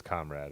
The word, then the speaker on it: comrade: it is oh comrade so it is comrade as in front oh Dimitri coming through